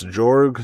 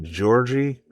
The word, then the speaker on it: Georg: Now, Georg Lukács Some sources say it's Georg, some say it's Georgie.